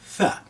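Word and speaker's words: ثاء: That's letter Tha. Now pronunciation of this letter is very important. Don't call it a Sa, it's a the tongue trap, and then you expelling the air very gently.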